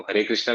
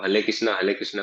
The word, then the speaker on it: हरे कृष्णा: China वाले जो हैं वो हरे कृष्णा भी नहीं बोल पाते हैं, वो हले कृष्णा बोलते हैं।